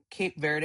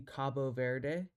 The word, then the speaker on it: Cabo Verde: So, uh on the pronunciation of it should be Cabo Verde. So, the main language, the official language, is Portuguese and Portuguese is pronounced Cabo Verde.